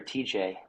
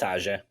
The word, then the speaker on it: Tajay: I don't know if it was Tajay or TJ. That's Tajay.